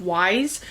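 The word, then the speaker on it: Ys: that's The Daughters of Wise, I believe is how you pronounce it. I'm thinking like Wise, like W-I-S-E, but it's Y-S.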